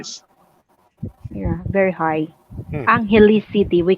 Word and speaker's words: Angeles: Sir Tim, we as a Filipino, we pronounce Now that's it where I just Angeles.